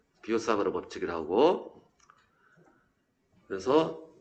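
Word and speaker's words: Biot–Savart: 그래서 이 사람들 같은 경우는, 이 비오 샤바르, 바이오트 사바르트 아닙니다. 프랑스 사람이라서 비오 사바르. 프랑스어는 T자를 묵음 처리한답니다. 비오 사바르 법칙을 하고, 그래서 이 사람들은 한 게 뭐냐?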